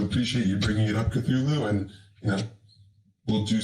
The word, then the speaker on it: Cthulhu: you know so appreciate you bringing it up cthulhu and you know we'll do some due diligence on it thank you have a great day thank you and uh published thank you for pronouncing that correctly that's cthulhu is like a sea monster from science fiction